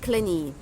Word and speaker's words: clingy: غيره، دول بنقول عليهم clingy يعني ماسكين كده في حد بيحبوه، ما يقدروش يعملوا اي حاجه من غيره. وخد بالك ان الجي في الكلمه دي سايلنت، لا تنطق.